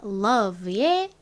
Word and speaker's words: love: r이 있는데이 사랑이라는 단어는 혀를 앞니 뒤에 갖다 댔다가 떼면서 우와 우와 러브 이렇게 발음을 하죠 자 그래서 r이 아닌 L로 시작을 합니다 자 l은 요렇게 쓰죠